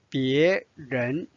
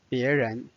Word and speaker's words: 别人: 别人人 second tone 别人。